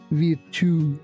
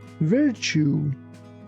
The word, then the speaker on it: virtue: Here be careful that we don't say we too. We say virtue.